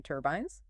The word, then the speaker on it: turbines: Wind turbines, make sure to emphasize that second syllable in turbines, turbines.